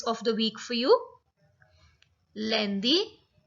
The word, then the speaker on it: lundi: So here you are going to learn their pronunciations in the French language. So Monday is lundi. It's lundi.